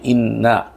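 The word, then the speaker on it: إنّا: এরপরে আরেকটা শব্দ পাশাপাশি সেটা হচ্ছে ইন্না। ওটা ছিল জজম দিয়ে। আর এটা হচ্ছে তাসদিদ দিয়ে। নুনটাকে দুইবার উচ্চারণ করা হচ্ছে।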